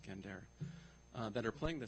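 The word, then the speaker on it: gendèr: quartet called gendere Wan spelled like gender but pronounced gendere uh that are playing the same interlocking uh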